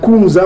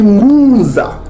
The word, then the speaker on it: Ngunza: Donc au lieu de dire Kunza, on dit Ngunza. Est-ce que vous commencez à comprendre Ngunza? On dit Ngunza, comme on prononce ici Ngunza, qui veut dire chez les Bantous, ça veut dire prophète.